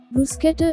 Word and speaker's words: bruschetta: is primarily stressed second syllable is so correct pronunciation is queen queen it is an italian word bruschetta brewsketter is an antipasto from italy consisting of grilled